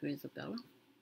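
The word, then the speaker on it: Grizabella: Okay, that's how you pronounce it, Grisabella.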